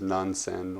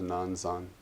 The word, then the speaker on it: Nansen: In Japanese, we say his name is Nansen, or sometimes Nansen.